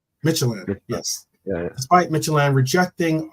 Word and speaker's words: Midtjylland: How do you pronounce the Midland, right? Isn't that how you pronounce it? Midtjylland. Midtjylland, yes.